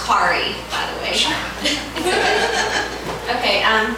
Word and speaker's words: Corrie: you've got a good start here and it's pronounced kari by the way okay um i have four